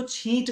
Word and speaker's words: छींट: चीन्स चीन्स और इनको अगर हिंदी में प्रोनाउंस करें तो इनको छींट कहा जाएगा, छींट, लाइक दिस।